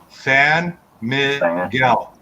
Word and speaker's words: San Miguel: Repeat after me. Okay. San Miguel. San Miguel. San Miguel. San Miguel. Okay. Yeah. San Miguel. That's how it's pronounced.